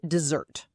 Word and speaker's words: dessert: And the stress is on the second syllable. Dessert, to remind you.